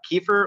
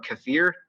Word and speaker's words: kefir: I make a yogurt called kefir or kefir. People pronounce it differently.